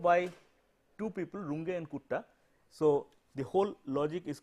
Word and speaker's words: Kutta: two people, Runge and Kutta. So, the whole logic is called the Runge-Kutta method. Germans, therefore, U would be pronounced as U. So, it is not Kutta, this Runge and Kutta.